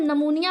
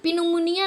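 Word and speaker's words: pneumonia: और यहां देखिए अब इसको हम निमोनिया पढ़ते हैं निमोनिया जिसको कहते हैं ना प निमोनिया नहीं कहते हैं अब पी साइलेंट होता है लिखते हैं हम पी से हैं लेकिन पढ़ते एं से हैं क्या लिखेंगे निमोनिया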